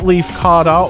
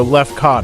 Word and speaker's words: Lefkada: But before we embark on this unforgettable journey, let's tackle the name, Lefkada. That's right, not Lefkada or Lefkada. It's got that Greek flair, and trust me, by the end of this video, you'll be rolling those syllables like a true islander.